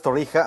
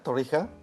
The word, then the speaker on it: Torija: Estoy con Sergio Flores Torija, así se pronuncia, Torija. Torija.